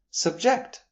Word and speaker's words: subject: Subject the noun means the thing that is being discussed. For example, our subject for discussion is pronunciation. Subject. Shifting the stress to the second syllable gives us the verb carrying the meaning to